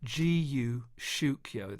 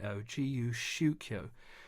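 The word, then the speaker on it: 自由宗教: basic understanding of something he called guu shio that's spelled j i Yu s h u k yo gu shio which can be translated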